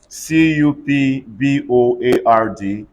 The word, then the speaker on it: cupboard: I already said that which other example covered c-u-p-b-o-a-r-d everybody say cupboard r-a-s-p-b-e-r-r-y say raspberry what are